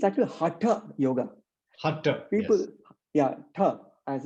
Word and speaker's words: Hatha: sutras and then later texts of course like hatha yoga pradeep gives a many asanas and so forth and it's it's actually hotter yoga hotter people yeah as in that second